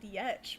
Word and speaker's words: Yetch: for her ideas and it's called yetch but it's spelled phonetically y-e-t-c-h oh stop trying to make yetch happen poor yet will never look like it's said uh at least in english but uh yeah she